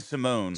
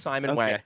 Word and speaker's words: Simon Wang: This is, is it Simon? Simon Wang. I've just been saying Simone. So, I believe it's Simon Wang.